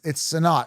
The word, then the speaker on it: Sinnott: It's Sinnott, Sinnott. I hate when they mispronounce names, like Bijan.